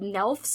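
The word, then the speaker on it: Gnelfs: ridiculous book it's called nelfs I think it's pronounced g-n-e-l-f-s by Sydney Williams and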